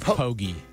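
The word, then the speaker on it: Poggi: Is it Pogy?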